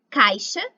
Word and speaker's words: caixa: Quando o ditongo ai aparece no meio da palavra e antes da letra X, o ai passa a ter som de A. Embaixo, embaixo. Caixa, caixa.